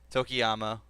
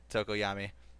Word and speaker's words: Tokoyami: So our top 5, which is Todoroki, Bakugo, Midoriya, Tokiyama, and I did not say his name right. Tokoyami, and Momo.